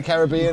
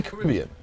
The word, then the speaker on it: Caribbean: it looked the same do you really say Caribbean yeah that bothers me I get I'm on your side I'm going on this side for the kiss yes you have the rhombus on the syllable for the movie as I say Caribbean I'm gonna stick with the way I say it well there with